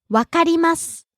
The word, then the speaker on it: わかります: Rising on the second syllable ma, falling on the last syllable su. 来ます。来ます。というふうに、を強く言わない方がいいと思います。 So don't hit the u in the last syllable of su. Next. わかります。